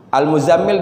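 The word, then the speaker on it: المزمل: berselimut ya ayyuhal Al Muzammil dan Al Mudatsir ini al-muzzammil dan al-muddassir ini rata-rata banyak orang salah dalam membacanya itu di huruf tasydidnya contohnya ya ayyuhal Mudatsir bukan ya ayyuhal Mudatsir sama juga ini Mus zanya tasydid mimnya tasydid lagi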